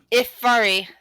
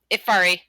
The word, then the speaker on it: Ifari: dates all right uh grace how do you pronounce the name of the gin again uh the jinn referred to himself as ifari um in their ifari i-f-a-r-i okay cool okay yeah i'm going to